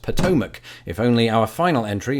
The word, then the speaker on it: Potomac: sailed that very river I can say with absolute confidence it is pronounced Potomac if only our final